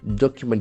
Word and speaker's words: document: Document is another beautiful noun, document. So meant endings must be nouns. Document. We can see that the accent falls on the first syllable.